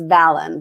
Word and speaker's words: Valyn: Here's how you pronounce my name, Ed. It's Valyn, like Valentine. Valyn.